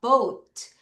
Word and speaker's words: bought: bought. 자, GH 발음이 약하게 난다.